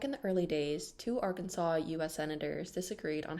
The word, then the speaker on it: Arkansas: of mispronunciation back in the early days two Arkansas US senators disagreed on how to pronounce a state's name one favored Arkansas with s while the other preferred Arkansas with SAS in 1881 the state's general assembly